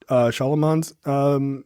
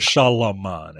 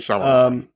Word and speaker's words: Shyamalan: You said Shyamalan, and that's not it. M. Night. Shyamalan.